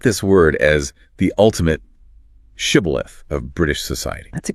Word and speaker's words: shibboleth: If you couldn't pronounce the word shibboleth with the proper sh sound, you were identified as the enemy and, well, it didn't end well for you.